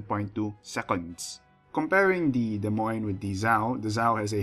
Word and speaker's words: Des Moines: get in the game this would be the Des Moines actually that's the wrong pronunciation it's pronounced Des Moines I think the people thought the Cleveland at